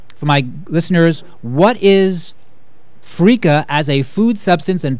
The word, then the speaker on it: freekeh: Is Bonnie Matthews on the line with Freaka Foods?